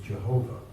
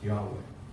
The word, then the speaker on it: Yahweh: They don't really mention, I think the only name really mentioned in the Bible of God is Yahweh, which we mispronounce as Jehovah, but it's actually pronounced Yahweh.